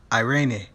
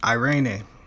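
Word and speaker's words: εἰρήνη: the second word that i found impactful was irene which was the grecian word for peace not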